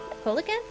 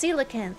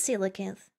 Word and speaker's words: coelacanth: funny uh pronunciation see it's coelacanth isn't it yeah yeah something like Silas I'm looking it up Cole what can't pronunciation it is coelacanth coelacanth there it is it's just coelacanth coelacanth I know a little